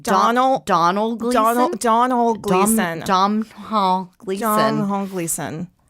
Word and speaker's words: Domhnall: cute is it Donald Donald Donald Donald Glandon domhnall gleeson not Donald Glover no it's the tall